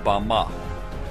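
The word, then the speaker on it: במה: in the Strong's Hebrew Dictionary, and it is pronounced Bama.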